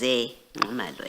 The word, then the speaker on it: Zingumalo: So the correct pronunciation is Zingumalo, as is written here.